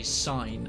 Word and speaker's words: sign: And you know, like you got the word sign in English has got a G in it, but you don't pronounce the G, you just say sign as if it's S-I-N-E.